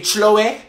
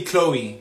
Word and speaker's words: Chloe: please correct me okay chlo it's actually Chloe Chloe Chloe I am so sorry